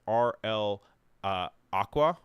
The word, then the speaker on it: RL Aqva: The font of the week this week, available on Typekit, is RL Aqva, I believe. The Aqva is spelled with a V, so it's RLAQVA, and this is designed